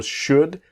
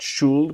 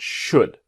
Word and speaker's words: should: should do now remember should the L is silent not shoeld but should what do you think